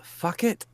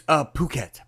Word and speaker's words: Phuket: Steve, I just gotta ask, isn't it called Fuck It? I know it's Phuket. Phuket, Thailand.